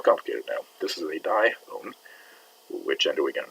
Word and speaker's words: dione: And this two-vowel system IO is pronounced IO. So dione.